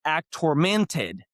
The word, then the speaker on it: Actormented: And we're back with another episode of act tormented. No, act tormented. That's how you No, now I figured it out. I actually figured it out how to say it. It's act tormented.